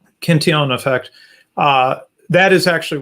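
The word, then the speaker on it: Cantillon: ken kentian effect or kentillon effect i never know which way to pronounce his name i'm gonna go with the french pronunciation um cantinon effect uh that is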